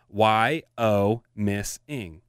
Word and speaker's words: Wyomissing: So there's a town called Wyomissing. Wyomissing. She says it's pronounced Y-O-Miss-ing.